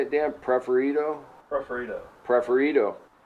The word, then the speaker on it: Preferido: Preferido?